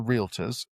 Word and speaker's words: realtor: It only applies to realtors. It doesn't apply to real estate agents. Another pet peeve is that half the realtors can't even pronounce realtor realtor.